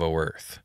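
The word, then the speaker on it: Oerth: on the world of O Earth again we know it's supposed to be pronounced Earth but we say the O so they know mhm um the princes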